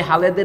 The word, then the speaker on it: Halhed: তো এল এর পরে এইচ বললে উচ্চারণ লটাই হয়, এইচটা তাকে সফট করে, লাউট করে, এটা না বুঝে তারা হাল হেড পড়া শুরু করেছেন, HED কিন্তু EAD নয়।